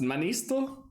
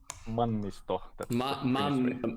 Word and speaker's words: Mannisto: I hope you are fine with this, but, and how is your surname pronounced? Manisto? Mannisto. Mannisto. Yeah, I try. In Finnish, everything is pronounced exactly as it's written, so it's easy.